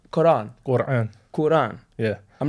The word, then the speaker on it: Quran: How am I pronounce Quran? Quran.